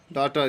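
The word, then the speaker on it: daughter: नहीं पड़ना चाहते और डॉक्टर इसमें जी हां साइलेंट रहेगा डॉक्टर डॉक्टर मैंने बेटी थी तो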